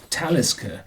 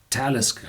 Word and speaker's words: Talisker: last but not least is the Talisker it's pronounced Talisker it's no Gallic word the alig is always pronounced on the second syllable part back boom more and this is talisca it's a Nordic word and this is the